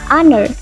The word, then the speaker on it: honor: Yang kedua ada her. Depannya H sama, tapi ketika dibunyikan berbunyi vokal. Huruf A, honor. Maka kita pakai N.